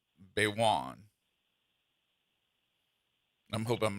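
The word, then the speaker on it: Gbaiwon: They tell me that the g is silent. So, I think it's Baywoan.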